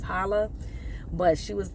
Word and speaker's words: challah: So I did not get too much because I wanted to get the challah bread, and I thought it was pronounced challah, but it's challah.